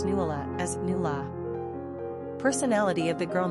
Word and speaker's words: Nuala: It should also be mentioned that Irish people pronounce Nuala as "Nula."